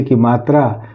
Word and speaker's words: calm: CALM, इसको हम पढ़ते हैं, काल्म नहीं पढ़ेंगे, इसको पढ़ेंगे कॉम।